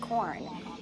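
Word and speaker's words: Quorn: made of corn corn with a q but it's pronounced corn and i'm actually the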